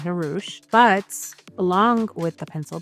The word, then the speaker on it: Hrush: for the longest time, people didn't know how to say my name and they would call me H Rush and I would just go along with it. Maybe that's like my stage name, not Harouch.